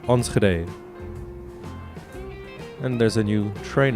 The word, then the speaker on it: Enschede: Sorry, I also found out this is pronounced Enschede.